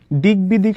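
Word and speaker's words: দিগ্বিদিক: যেমন দেখো দিকবিদিক শব্দের মধ্যে গ এর সাথে ব ফলা যুক্ত আছে। তাহলে আমাদের কিন্তু এই গ এর উচ্চারণ হবে এবং ব এর উচ্চারণ হবে।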